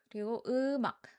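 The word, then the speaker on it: 음악: So, originally it's um and ak, but you should blend the ending meme sound into the next syllable. So, ak sounds like mak. Ak sounds like mak mak. Eumak eumak. And we don't make any prominent sound when ending this. So, it's not ak so not k sound, but just a stopping sound.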